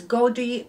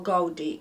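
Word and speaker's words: Gody: them in the shop called I think it's godie or godie it's spelled g o d y I always buy shoes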